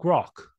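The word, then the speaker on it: Grok: different than chat GPT and Claude it's called grock okay give me give me a five in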